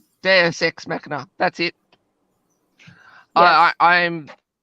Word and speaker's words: deus ex machina: fading on me i can't even get the pronunciation right deus ex machina that's it i i i'm it there's deus